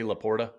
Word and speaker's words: LaPorta: the way quick aside can somebody teach Greg Olsen how to say laporta because if I hear La Porta like even my daughter brought it up she's like why does he say it like that that's neither here nor